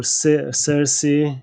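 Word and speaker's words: Circe: of the island where uh cheers or cersei in in the english pronunciation and then the island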